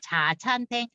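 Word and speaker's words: 茶餐廳: 자찬탱. 그래서 따라서 한번 해보세요. 자찬탱.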